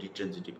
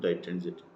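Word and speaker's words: ditransitive: উচ্চারণ করতে কোনোবাই ডিট্রেনজিটিভ কয়, আসল উচ্চারণটা হল ডাইট্রেনজিটিভ। ডাই মানে দুই, ডিট্রেনজিটিভ বা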